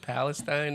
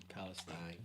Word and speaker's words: Palestine: Palestine. They call it Palestine. They don't pronounce it Palestine. I've heard it the other way too.